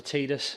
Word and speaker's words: Tidus: But it also introduces the main character, Tidus, or some people pronounce it Tidus, but in the game it's usually pronounced Tidus by anyone who says his name.